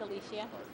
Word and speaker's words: Alicia: Is it Alicia? It's Alicia.